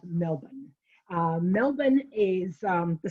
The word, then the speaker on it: Melbourne: course living in florida we have a town called melbourne but that's not how you pronounce this uh this would be more of melbourne uh melbourne is um